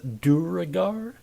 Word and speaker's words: duergar: and fantasy races so pronounce it at your leisure but if you don't want to be made fun of by your friends duragar is the uh that's the most common way i've seen it pronounced and they were added